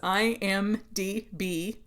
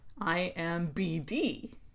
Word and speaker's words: IMDb: It is IMDb, not IMBD. And a way to remember it is that stands for Internet Movie Database.